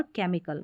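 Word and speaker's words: chemical: यहां पर आप इसको च नहीं पढ़ेंगे। सी को ही पढ़ेंगे। क और एच यहां पर साइलेंट रखेंगे। क्वायर, कोरस, कैरेक्टर, एक्वर, केमिकल में। चलिए नेक्स्ट देखिए।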